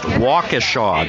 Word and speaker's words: Waukesha: Brian from, it's pronounced Waukesha, John.